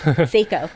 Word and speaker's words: Seiko: Sorry, how do you pronounce it? Seiko. Seiko.